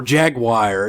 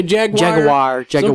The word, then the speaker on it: jaguar: the brits yeah or jaguar you never know how people some people say jaguar we'll say jaguar yeah like wine jaguar jaguar yeah that's another one that's that's too many syllables that's jaguar what's like